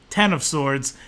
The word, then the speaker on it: X of Swords: the announcement that September X of swords actually pronounced ten of swords ten of swords creation